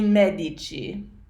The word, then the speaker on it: medici: sound is used so in medico becomes a Medici simpatico becomes sympathy Chi fantastical becomes fantastic G